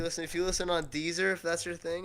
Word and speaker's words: Deezer: Deezer? I'm sorry, there's a thing called Deezer? Yeah, man. It's the original. What? It's like Weezer, but with a D instead of a W.